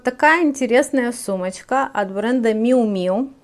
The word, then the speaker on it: Miu Miu: этот бренд ну вот википедия говорит что мяу-мяу правильно ну еще допустимо произношение miu miu ну типа как мяуканье котенка miu miu но у нас котенка